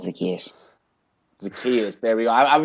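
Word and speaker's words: Zaccheaus: It's not Zacharias or anything like that. It's Zacchaeus. Zacchaeus, there we go. I'd be like, is it Zacharias, Zacchaeus?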